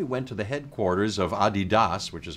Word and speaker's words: Adidas: And then we went to the headquarters of Adidas, which is how you pronounce it apparently.